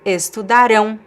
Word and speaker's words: estudarão: And I have this word, estudaram, estudaram, and this word estudarão, estudarão. So, the pronunciation is exactly the same, however, the stress changes.